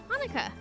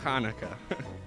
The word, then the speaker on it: Hanukkah: Hanukkah. Hanukkah. And how do you pronounce Hanukkah?